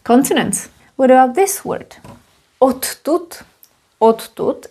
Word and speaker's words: odtud: Odtud, it's a funny way of pronouncing it, means from here, because t is voiceless, d is voiced, t influences d, d goes to t, and we end up with double t, no problem.